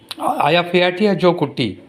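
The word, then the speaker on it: Eyjafjallajökull: That is pronounced as Aya Phiatia Jokuti. My God. Aya Phiatia Jokuti. Aya Phiatia Jokuti. This is pronounced as. See, this spelling, this pronunciation and this pronunciation is so different.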